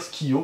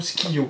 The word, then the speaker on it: Skyjo: Il semblerait qu'on devrait dire Skio parce que le J en allemand se prononce Skiyo.